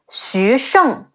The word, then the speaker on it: Xu Sheng: Next, we have Zhou Tai, Zhi Ou Zhou Te Ai Tai, Zhou Tai, and his two subordinates, Xu Sheng, Xi Yu Xu, Shi Eng Sheng, Xu Sheng, and Zhu Ran, Zhi Wu Zhu, Zhi An Ran, Zhu Ran.